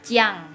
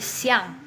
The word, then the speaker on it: Xiang: jadi ciang ya, tapi siang, Xiang itu siang sebutannya.